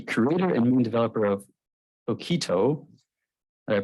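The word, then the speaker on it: toqito: and Main developer of okito uh pronouncing right close enough how do you pronounce it it's a keto kind of like the uh the dish yeah it's an open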